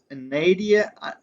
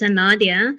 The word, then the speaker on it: Anadia: Is it Nadia? I know I butchered your name. Anadia? No, all good. It's Anadia. Anadia.